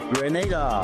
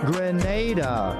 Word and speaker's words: Grenada: But I heard in English it's called Grenada. Say it right. Grenada.